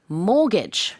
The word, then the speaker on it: mortgage: Mortgage. Yeah. So first of all, pronouncing this word, the T is silent there, right? So it's mortgage.